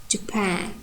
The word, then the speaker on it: Japan: And our example, Japan. So the first syllable is unstressed, and pan is stressed with primary stress. Japan.